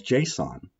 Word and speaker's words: JSON: The file extension is JSON, which is pronounced as JSON.